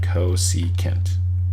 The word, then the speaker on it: cosecant: abbreviated with csc instead cosecant all right cos is reserved for cosine already but that's pronounced cosecant now if we want